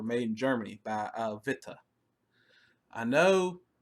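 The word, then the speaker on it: Witte: in Germany by uh vitaa I know I know it's spelled wi tte but Vita is apparently how you say that worth yes worth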